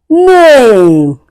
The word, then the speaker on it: name: name You can hear the sound of a and e goes silent.